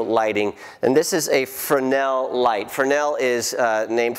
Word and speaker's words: Fresnel: And so it's pronounced Fresnel. It looks like Fresno, but it's pronounced Fresnel.